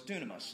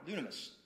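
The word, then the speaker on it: δύναμις: word for power and he's like well it's dunamis and it's spelled d-y-n-a-m-i-s is how we would you know transliterate transliterated it's power dunamis which is where we get our word dynamite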